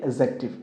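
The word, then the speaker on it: adjective: आपको हमेशा ध्यान रखना है कि कोई भी जब ए और जे के बीच में डी आता है, राइट, ए और जे के बीच में डी आता है तो डी हमारा क्या हो जाएगा? साइलेंट हो जाएगा। क्या हो जाएगा? साइलेंट। तो हम इसको एडजेक्टिव नहीं पढ़ते हैं, इसकी करेक्ट प्रोनाउंसिएशन क्या होती है? एडजेक्टिव।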